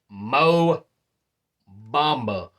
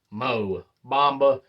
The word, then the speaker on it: Mo Bamba: traded Patrick Beverly to the Orlando Magic for MO mamba or some say Bamba but the correct pronunciation is Mo Bamba and as I said those are the Blockbuster